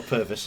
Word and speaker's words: Purvis: Yeah, we'll pronounce it Pervs then. Not pervy. Or Purvis as it should be, but yeah.